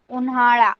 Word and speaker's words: उन्हाळा: Okay see every time आपका pronunciation ळ होना चाहिए, ळ ड नहीं। पावसाळा, हिवाळा, उन्हाळा लाइक दिस।